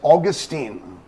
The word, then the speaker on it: Augustine: Or his name can be pronounced as Augustine, like you say the month August, because Augustus Caesar named after that, but Augustine or Augustine.